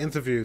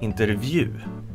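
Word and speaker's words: intervju: it does look like interview to me interview um how do you pronounce it though what is it pronounced this word is actually pronounced interview but interview most sweets pronounce it inter intervie inter inter oh and why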